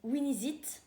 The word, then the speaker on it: Winixit: Donc cette amie, c'est Winizit. Cette fois, je prononce bien parce que j'avais fait une story